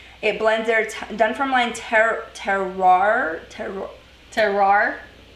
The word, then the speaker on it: terroir: Paul is saying terroir.